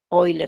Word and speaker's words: Euler: también se conoce como número de Euler oler si lo pronuncian bien no está y es